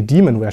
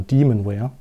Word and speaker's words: Demonware: Nee, Demonware spricht man es ja aus, genau, Demonware.